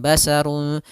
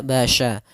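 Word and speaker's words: بشر: Kemudian selanjutnya pada lafal basya, hati-hati dalam pelafalan sya-nya harus dibaca dengan shin bukan sin, bukan basarun tapi dia basya.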